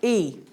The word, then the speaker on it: y: so do you think e it's like the letter Y but pronounced e we all said that